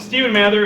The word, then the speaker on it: Stephen Mather: I'm going to introduce Stephen Mather, who is going to talk about, what do you put here is OSM Awesome Botnet Communications. And Stephen Mather is am I pronouncing that right?